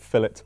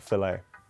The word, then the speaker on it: fillet: Also, do Americans find it weird that we pronounce it fillet burger and not filet?